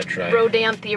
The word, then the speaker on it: Rodanthe: talking about Rodanthe yeah Rodanthe right here on the map it is pronounced with the e on the end and that's the one